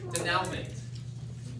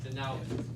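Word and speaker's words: dénouement: Denouement. Denouement. It's like an pronounced There's so much less pain if you Day just throw the new woe mom. to me.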